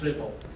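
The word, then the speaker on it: RPL: brought over network is ripple pronounced ripple okay all right so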